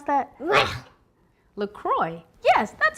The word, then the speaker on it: Croix: you think that's gonna float hmm okay look Cory no no that's not right honey how do you pronounce that look look Croix yes that's how you pronounce it okay go